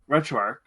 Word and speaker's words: RetroArch: retrograde i think i don't know how to pronounce it i say retroarch but i i've heard both does it have a an h at the end yes then it's arch okay retro arch um